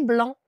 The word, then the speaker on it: blanc: Et blanc avec un C aussi.